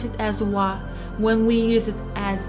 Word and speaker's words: は: It is pronounced as wa, wa, but we write it as hiragana, ha, ha. So when we use it as a particle, we pronounce it as wa.